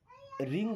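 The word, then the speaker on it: wring: okay, रिंग the towel, देखिए रिंग, आर के पहले डब्लू आया मतलब डब्लू होगा साइलेंट, इसे क्या पढ़ेंगे, रिंग, रिंग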